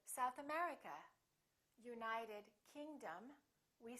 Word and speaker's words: South America: and names of places if the place has two words we stress the second word for example south america we say south america united kingdom we say